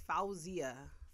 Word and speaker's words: Fawziyyah: __ ] up and it's like the actual pronunciation of it is fawzia yeah like my friends my really close friends